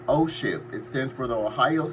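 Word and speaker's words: OSHIIP: number that you want to call is called osip it stands for the Ohio senior health insurance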